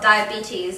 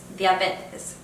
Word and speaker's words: diabetes: So for example, diabetes is spelled the same, but it's pronounced a little bit differently. So in English it's diabetes, whereas in Spanish it's diabetes.